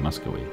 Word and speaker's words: Muscovy: I know it's a V, but I think it's pronounced with a W sound, Muscovy.